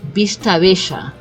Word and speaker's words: Vista Bella: But if I have to pronounce it like we pronounce it in Argentina, then it will be Vista Bella, right? Because the double L in Argentina we say the sound of a sh, right?